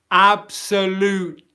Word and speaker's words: absolutely: This syllable here, absolute, loot. It's this bit here, okay? I'm going into the T position, loot. And I'm pausing airflow, absolutely.